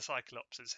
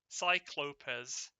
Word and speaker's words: Cyclopes: I think however the ones who are really going to pull their weight will be the cyclopses here. Cyclopes I think is the pronunciation.